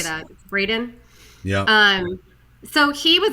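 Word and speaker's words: Braeden: yes the actor what's his name uh Eric Brayden how do you say that Braden yeah um so he was actually a survivor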